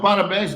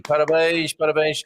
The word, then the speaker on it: parabéns: So parabéns. Don't parabéns. Don't say it like that, Mia. It's a cause for celebration. Hey, parabéns.